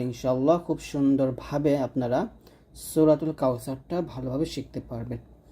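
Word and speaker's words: كوثر: সা র জবর র কাউ স র এখানে এই সা টা যখন উচ্চারণ করবেন একটু সতর্ক থাকতে হবে যেন জিহ্বাটা নিচে দাঁতের সাথে না লাগে জিহ্বার আগা উপরের দাঁতের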